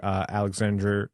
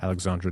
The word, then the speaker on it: Alexandre: First of all, a much belated happy birthday to Alexandra, I'm sorry, if you go with the French-Canadian pronunciation, Denis, so Alexandre Denis.